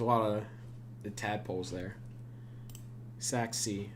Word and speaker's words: Sachse: of the tadpoles there Sac sea uh yes it is uh pronounced that s-a-c-h-s-e it is with a German accent it's named after Saxony